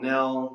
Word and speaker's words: Nell: So Am I pronouncing Nell right, or is it a different you pronunciation? are. I've been called Nell, Neil, Nelly. You can call me whatever you want, John.